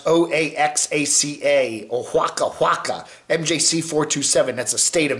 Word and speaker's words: Oaxaca: got to get his permission first trying to pronounce o-a-x-a-c-a mjc427 that's the state of mexico right it's